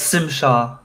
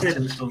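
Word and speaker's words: Tzim-Sha: No, it's Sim Shaw. But it's Well, also not Tim Shaw. he said something, but like she took it as Tim Shaw.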